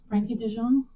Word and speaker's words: Frenkie de Jong: Frenkie de Jong.